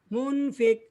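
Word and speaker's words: منفق: Munfik, Arabnya dulu. Bismillahirrahmanirrahim. Mumfikina, mumfikah, mumfikat. Ah, Ibu itu Mumfik, dibacanya mati, orang Bu. yang berinfak. Mumfik, Huruf belakangnya dibaca mati.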